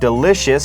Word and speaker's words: delicious: นะ ครับ แล้ว ก็ ยัง มี คำ ว่า Delicious ที่ แปล ว่า อร่อย นะ ครับ หรือ แสน